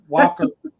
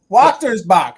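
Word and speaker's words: Wächtersbach: of this Christmas tree Watsterbach. Did I say it right, Amie? It's kind of like you have to pretend the middle of the word's not there. Right. Okay. Walkersbach. Walkersbach. Wachtersbach.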